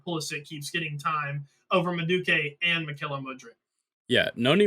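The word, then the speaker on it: Madueke: But the fact that he started against Everton over I think it's pronounced Maduke, but he's like a young English winger who's Yes.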